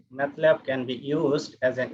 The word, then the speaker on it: MATLAB: some of us uh pronounce it and in a wrong way somebody says math lab this is not actually matlab it is matlab this map is stands